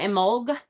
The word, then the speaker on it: Imbolg: Some people pronounce it Imbolg with a G.